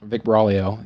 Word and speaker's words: Buraglio: But owner Vic Buraglio, you can't pronounce his last name. I can't. Yep, that guy. Silent G.